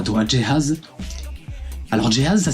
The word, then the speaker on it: Jay Haze: C'est Jehaz qui répond.